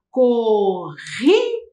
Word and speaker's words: corrida: Vocês perceberam que na primeira palavra, o R se repete. Isso. Então, ele fica ainda mais forte.